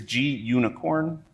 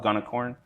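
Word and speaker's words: gunicorn: use event lit g i always forget how to pronounce this i think it's g unicorn is is what it's supposed to be i always used to call it gunnicorn uh and work zeog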